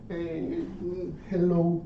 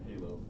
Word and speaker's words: Halo: And it's almost perfect beside the Hello Nightmare. Am I pronouncing it right? That's Halo.